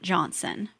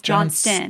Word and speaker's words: Johnston: We have to give a shout out to the Trent Johnson because Johnston, I'm sorry, Johnston with a T.